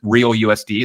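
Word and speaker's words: RLUSD: the RL USD uh they pronounced it real us that's very interesting that's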